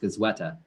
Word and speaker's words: Goizueta: So it's just pronounced Goizueta. Goizueta, got it.